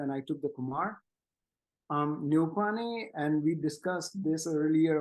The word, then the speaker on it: Neupane: But in English, Neupane is exactly how you pronounce it.